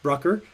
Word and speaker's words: Brucker: you hopefully maybe sorry i think i mispronounced your name at the beginning sorry about that brucker dr brucker uh and uh hopefully maybe